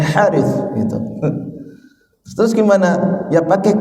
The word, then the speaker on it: Haris: a ha gitu ya nama saya harit ya itu kalau ditulis